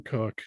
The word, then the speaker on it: Koch: is spelled k and it's pronounced cook so it's always kind